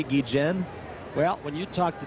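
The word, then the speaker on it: Guillén: the source of controversy I must pronounce the D Chen because that is what you have decreed and yet the players have begun to kid me Kubek still making you say gijin well when you talk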